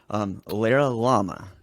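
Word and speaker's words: LaraLlama: It's called LaraLama. Did I pronounce that right? Kind of like the animal.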